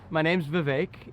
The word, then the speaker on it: Vivek: VIVEK RAMASWAMY (R), Presidential Candidate: My name is Vivek. It rhymes with cake, and I'm on the campaign trail having some fun.